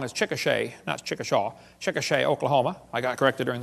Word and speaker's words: Chickasha: textbook still has it 2005 textbook and I pronounced it wrong as Chickasha nots Chickasaw Chickasha Oklahoma I got corrected during the break still